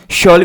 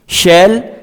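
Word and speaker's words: shall: को आप बनाते हैं शॉल वी गो। शॉल वी गो, इसको आप दो तरह से प्रोनाउंस कर सकते हैं, शैल या फिर शॉल।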